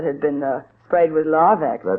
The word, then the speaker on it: Larvex: would starve to death before it tried a little uh wool that had been uh sprayed with Larvex.